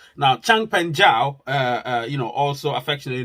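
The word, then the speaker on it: Changpeng Zhao: uh obviously the co-founder of binance he's called Champion Zhao now Chang pan Zhao uh you know also affectionately known as CZ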